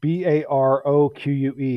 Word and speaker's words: baroque: going to begin to look at what's called baroque art b-a-r-o-q-u-e is pronounced baroque uh and it lasted from about